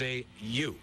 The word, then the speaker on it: yew: going to prune is a yew. A you? Really? A yew. I'll bet you spell it a different way, huh? Yes, it is spelled a different way, but it's still you, baby. You better be very careful